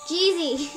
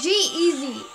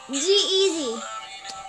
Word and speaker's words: G-Eazy: Can we pronounce it right? Jeezy. Jay-Z. Nope. I don't know how to pronounce it. Jeezy. Yeah. No, Jeezy. It's G-Eazy. G-Eazy.